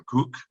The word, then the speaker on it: Koch: Il y a en particulier un excellent scholar anglais qui s'appelle John Cook, ça s'écrit Koch, hein, c'est K-O-C-H, qui a fait toute